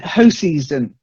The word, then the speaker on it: Hoseason: And then hoseason, not hoseason, hoseason. Hoseason? Yeah, I'm pretty certain it's that because there is a company called Hoseasons, like a holiday company.